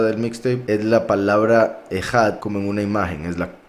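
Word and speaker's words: אחד: Se pronuncia Ejad.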